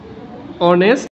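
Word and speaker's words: honest: আচ্ছা এবার আরেকটু যদি লেখি যেমন ধরেন হি ইজ ড্যাশ অনেস্ট।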